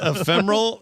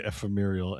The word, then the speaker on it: ephemeral: Is it ephemeral scal is this one of those scalidal deals?